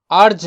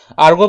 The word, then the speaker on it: erg: আর্গ বলে, আর্গ, ইআরজি, আর্গ। আর্জ নয়, আর্জ হচ্ছে ইউআরজিই, আর্জ, সেটা নয়, অনেকে এটাকে আর্জ বলে। আর্জ নয়, আর্গ, গ উচ্চারণ হবে লাস্টে, আর্গ, ঠিক আছে।